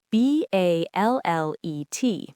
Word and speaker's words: ballet: But for ballet, we keep the French rule and the T is silent.